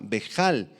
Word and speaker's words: vejal: Esta palabra turbación bejal en el arameo con h y acento en la a vejal significa que tuvo pensamientos que lo asustaron y que lo alarmaron y lo confundieron.